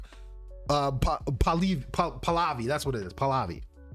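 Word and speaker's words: Pahlavi: or whatever the Uh Paliv Palavi.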